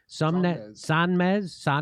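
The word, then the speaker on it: Sonmez: And then his colleague who also works at the Washington Post, someone named Felicia Sumnez. How do you say her name? Sanmez.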